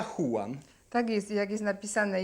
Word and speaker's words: Juan: podobno tam w Hiszpanii jak jest napisane Juan to się czyta huan tak jest jak jest